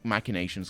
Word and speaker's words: machinations: in their millennial long machinations or imaginations i've heard it said both ways it should be machinations because it's from latin but english changes the pronunciation anyway oh yes dragons